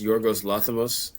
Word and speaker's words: Yorgos Lanthimos: Uh, it's Yorgos Lanthimos. I think Yes. that's how you pronounce it.